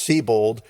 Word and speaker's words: Sebold: name is spelled sub old s-e-b-o-l-d but it's pronounced c-bold and i had to google that to make